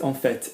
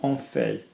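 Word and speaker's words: en fait: for a fact and a lot of accents pronounce this okay so in fact on vet not on FEI okay I have a piece of sticking up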